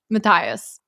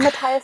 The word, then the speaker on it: Matthias: But Matthias. I think Matthias is. I feel like Okay. I've met people who spell their names that way and do not pronounce the th.